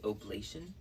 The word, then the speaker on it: oblation: raw meat as a I think it's pronounced oblation I think I've been saying Oli all these words and that's like the wrong word it's actually oblation um and then obviously